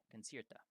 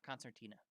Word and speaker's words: Concierta: when i'm doing this her name is considered concerta c-i-e-r-t-a concierta so not concertina sorry that's a that's a